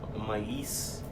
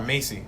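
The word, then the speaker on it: Maisie: Oh no, Macy. Macy. Oh, Macy. I was like, who are you pronouncing? Mais? It's spelled Macy.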